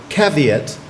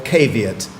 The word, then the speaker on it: caveat: number three your word has two pronunciations so you can either have caveat or caveat caveat or caveat KVM